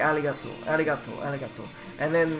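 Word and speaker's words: ありがとう: like an l so it sounds like aligato arigato aligato and then like gozaimasu because i must it's pronounced like jose no arigato is or arigato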